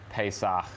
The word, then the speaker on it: Pesach: He's here to share his magical recipe with us, just in time for Pesach. The correct way to say it.